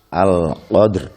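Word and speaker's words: القدر: Al-qadr. Roknya tipis. Lirih hampir tidak terdengar.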